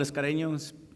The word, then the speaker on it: Escareño: I'm Escareño, spelled with one R, pronounced with two, also known as Mr.